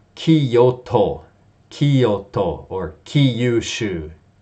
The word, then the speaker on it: Kyushu: And as we know, it's not Kyoto, Kyoto, or Kyushu. Actually, Kyushiyu, okay? It sounds crazy when you say that.